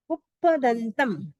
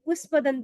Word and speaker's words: पुप्पदंतम: वंदे, वंदे वंदे सुविहिम सुविहिम सुविहिम सुविहिम च पुप्पदंतम पुप्पदंतम पुप्पदंतम पुप्प कई लोग पुष्पदंत बोलते हैं, वो संस्कृत में हो जाता है पुष्प, लेकिन प्राकृत में पुप्पदंतम।